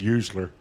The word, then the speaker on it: Usler: They spelled his name wrong. That's Usler. Usler. Yeah, it ain't supposed to be a T there.